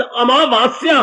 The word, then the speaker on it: अमावस्या: शब्द अमावस्या है। आ मां के बाद फिर आ की मात्रा, वाह के बाद फिर आ की मात्रा, आधा सा या आ की मात्रा, अमावस्या।